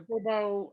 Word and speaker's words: Corbeaux: Is that like spelled like French, like C-O-R? Corbeaux, Corbeaux, Okay.